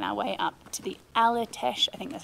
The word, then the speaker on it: Aletsch: You find us this morning halfway on our way up to the Aletsch, I think that's how you say it, Glacier.